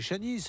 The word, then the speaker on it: Shanice: J'allais dire Shanice, mais c'est Shanice, on le prononce à la française.